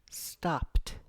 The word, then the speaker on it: stopped: Every time you make an unvoiced sound at the end of the word, when you want to say it in past tense and it's a regular verb, you use t.